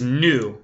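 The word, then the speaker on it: nou: say we our team we is new that's spelled n o u so we would say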